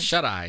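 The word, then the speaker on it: Shuteye: How do you pronounce that? Shut Eye.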